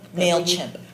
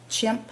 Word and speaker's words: Mailchimp: Um, and to the mail is am I pronouncing this correct? Mail clip. Mailchip. Mailchip. Chimp. Chimp like the monkey.